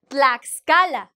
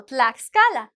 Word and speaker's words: Tlaxcala: Tlaxcala, the same. We're going to separate it, right? Because it's like tlax. We cannot hug the next consonant. So you have to have the sound x Tlaxcala.